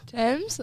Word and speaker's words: Tems: How do you spell that? TEMS. Yeah. Exactly how it sounds. Thames.